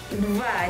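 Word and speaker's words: два: Dva. Jadi dalam bahasa Rusia itu ada kata-kata deva. Is it correct the pronunciation?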